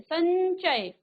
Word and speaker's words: संचय: अब इसको आपने अनुस्वार लगा दिया तो हो जाएगा संचय, तो यो का उच्चारण आ रहा है, आधा यो का।